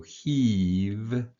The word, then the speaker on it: heave: Again, the E silent here. This is the EA is pronounced E. So you just have the H and the V.